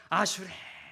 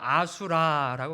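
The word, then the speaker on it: אשרי: 옆에 있는 사람 보시면서 아슈레. 와, 반대편 보고 또 합시다. 아슈레. 어떻게 막 감동이 찾아오십니까? 근데 어떤 사람들이 이 아슈레를 잘못 발음해서 아수라라고 발음해요.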